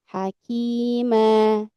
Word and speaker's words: حكيما: Maka kita bacanya kan misalkan di sini contohnya hakiman asalnya ya. Tapi kalau kita wakaf menjadi hakimah.